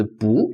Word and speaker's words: 不: So when I pronounce this 不, actually what I say is 不 second tone. So I'm going to talk about tone change later. So this one is fourth tone. So for 不, if you have a fourth tone like syllable go after it, you are going to change the 不 into second tone.